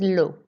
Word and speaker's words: l'eau: 1 was l'eau. It's not le, okay, it's O, like the letter O, capital letter O.